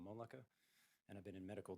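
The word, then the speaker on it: Mölnlycke: kind of hard to spell and pronounce. No worries. So Moleka is M-O-L-N-L-Y-C-K-E.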